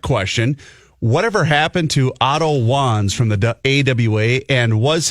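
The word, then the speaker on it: Wanz: W-A-N-Z, Wands. Yeah, but it pronounced Wands.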